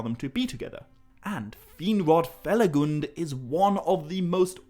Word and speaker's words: Finrod Felagund: number two beren and finrod feligund or actually finrod feligund is i think how i should be saying that i've been mispronouncing my favorite else name this whole time